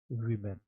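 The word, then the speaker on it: women: is very important और इसको आज के बाद से उच्चारण करेंगे वीमेन ओके आप समझ रहे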